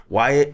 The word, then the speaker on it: Wyatt: wow because my name rhymes with diet and be quiet and I grew up fat and talk a lot. So like you can imagine Wyatt can't be quiet because